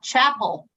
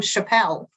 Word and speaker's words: Chapel: It's Chapel. I keep calling him Chappelle.